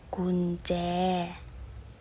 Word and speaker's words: กุญแจ: ว่า ของ ขวัญ เอา กุญแจ อ่าน ว่า คุณ แจ หมอ วัน เพ็ญ อ่าน